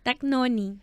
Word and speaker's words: Dagnoni: melhor que a minha como é que é o meu sobrenome Dagnoni Dagnoni chique chique o d quase não falo né Dagnoni é eu